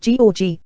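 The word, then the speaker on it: Gjógv: then on to the magnificent job pronounced g where we camped for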